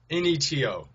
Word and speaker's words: Neto: up because I don't really know how to pronounce his name all right here we go it is Raul n-e-to Neto oh yeah Utah Jazz yeah you guys